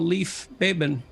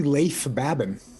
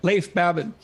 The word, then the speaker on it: Leif Babin: The Dichotomy of Leadership with fellow retired SEAL Leif Babin. Did I pronounce that right? Nope. It's actually Leif Babin. Oh, so I didn't pronounce it right at all. Leif Babin.